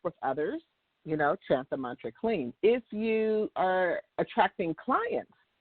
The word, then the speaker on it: Kleem: You want to chant the mantra Kleem. I've given this mantra out before for those who are seeking love or to attract love. The mantra is K-L-E-E-M or K-L-I-M.